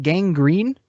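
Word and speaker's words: Gangrene: so you're on uh how do you pronounce it gang green yeah internal gang green records internal gang green records but it's g-a-n-g-r-e-n-e right yeah it's like spelled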